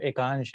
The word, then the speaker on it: एकांश: Sir Hindi में मैं यही लिखता हूँ सर, मेरा नाम एकांश है, बस प्रोनाउंसिएशन अगर देखेंगे ए से चालू होगा तो आकांश होगा, बट सर मेरा नाम एकांश है।